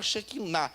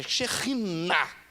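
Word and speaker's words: שכינה: Tem umas pessoas falando errado aí. Shekinah. Não existe nem a palavra Shekinah. É Shekhinah no hebraico.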